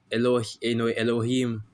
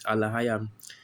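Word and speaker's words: אלהים: They'll say Elohim, Elohim, which is how they say it in the Yiddish, but in the Paleo Hebrew the word is Alahayam, because you see all the letters there.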